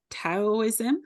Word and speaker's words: Taoism: um let's talk about taoism is that how I say it well it can be da or to like pronounce it either way taoo um so if